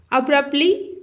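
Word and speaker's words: abruptly: की तरह ताकतवर है अब्रप्टली टी इसमें साइलेंट होता है अचानक द कैट अब्रप्टली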